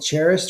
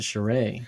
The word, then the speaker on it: Charest: Although I think your influence for these is Travis Charest, and I think he can pull that off with like calculated detail in certain areas, and then everywhere else kind of smooth.